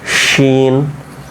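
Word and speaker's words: شين: এর পরবর্তীতে হ্যাঁ তারপরে দেখেন র ঝা সিন শিন সদ একটু দাঁড়ান এই জায়গাটা দেখেন তো সিন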